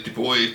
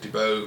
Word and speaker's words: Dubois: Like, it's actually DuBois, but they pronounce it DuBois because they didn't like the guy, apparently.